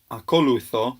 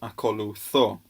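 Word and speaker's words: ἀκολουθῶ: Although it looks similar to the first, there's actually an accent on the end, which means you would read it not akolutho, but akolutho.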